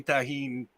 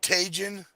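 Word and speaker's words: Tajín: word where I've been trying to get him to say tahin properly did you say tejin ated you totally did when he said I'm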